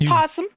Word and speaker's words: opossum: It's just possum. Just possum. So if somebody were to refer to you, it would be just be Julie the possum. Correct. It's Julie the possum. The O is silent.